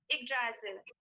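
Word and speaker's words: Yggdrasil: nine including nine world that is the wrong pronunciation the right pronunciation would be igrazil the right pronunciation would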